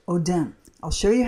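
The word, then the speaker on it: אֹדֶם: was a long long time ago but it's pronounced Odem I'll show you how it's used here in Exodus 28 17.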